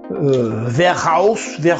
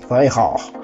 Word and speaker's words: Weihrauch: Alors c'est un Arminius de la marque Verhausch, je sais pas comment on prononce. J'ai cherché sur internet. Weihrauch, de la marque Weihrauch. C'est donc une marque allemande comme son nom l'indique.